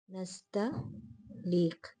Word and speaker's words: नस्तलीक: और आप इसको दूसरे, मैंने आपसे कहा कि इसमें स्वाद नस्तलीक, नस्तलीक बाज़ डिक्शनरियों में ये है, बाज़ ये है, लेकिन इसकी प्रोनाउंसिएशन दोनों की यही है, तलफ़ुज़ यही है, नस्तलीक, नस्तलीक।